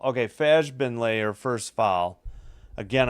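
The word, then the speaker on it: Fagbenle: Okay, Fajbenley, her first foul. Again, I know her name is pronounced with a hard G, but I'm doing it to play it safe with the soft G.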